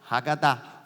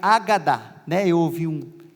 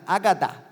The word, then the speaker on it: Hagadá: o ritual de Páscoa, conhecido como Hagadá, na verdade é Agadá, hoje eu ouvi uma pronúncia mais correta, Agadá, Desde então toda a